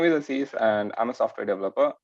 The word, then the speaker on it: Aziz: can you introduce yourself to everybody uh your pronouncing is correct it's a cease only so my name is aziz and i'm a software developer um i'm working